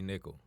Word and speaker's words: Nickel: I am Kiana Elise _ I'm Nickel. Just how it sounds is how it's spelled. Nickel. Please, no Well, but clowns. Nickel no like the clowns. coin. Nickel like the coin.